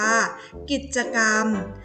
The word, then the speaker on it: กิจกรรม: ต่อ มา ของ เรา ว่า คือ คำ ว่า กิจกรรม อ่าน ว่า กิจกรรม กิจกรรม มี ความ หมาย ว่า